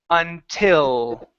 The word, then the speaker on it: until: Ooh, with your tongue up above and your mouth open. Until. Until. There you go. That's the L sound, right?